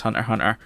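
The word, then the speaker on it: Hunter × Hunter: It's meant to be pronounced Hunter Hunter.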